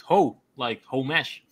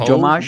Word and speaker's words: homage: Yeah, like ho mesh. It's not Jomash.